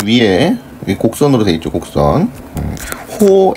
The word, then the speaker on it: 호: 호 AB라고 읽는 거예요. 호 AB 이렇게 읽어요.